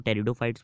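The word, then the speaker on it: Pteridophyte: तेरा से टेरिडोफाइट याद रखना है, पी से स्टार्ट होता है पर पी साइलेंट, हम टेरिडोफाइट्स बोलते हैं।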